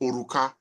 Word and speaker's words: Oruka: in The yobba Language means ring and it's pronounced oruka so and uh I can see how the